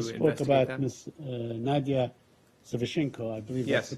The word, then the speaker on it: Nadia Savchenko: Nadia Savchenko, I believe Yes. that's the proper pronunciation.